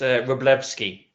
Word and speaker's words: Wroblewski: It's Wroblewski. The second W is pronounced as a V.